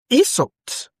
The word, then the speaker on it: insults: Now, we also have insults. Insults. Insults. Do you know that? Insults. That is a noun. And it has stress on the first syllable.